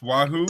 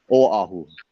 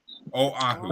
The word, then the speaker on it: Oahu: So how do you pronounce this, Joe? Is this Wahoo or what? Oahu. Oahu.